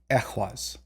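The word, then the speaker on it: Ehwaz: a little controversial uh this is going to be Equus so it's going to be a short e again as in like exit or entrance entry sometimes it gets mixed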